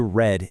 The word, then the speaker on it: read: The spelling of read, for instance, stays exactly the same, but the pronunciation changes from read in the present to read in the past.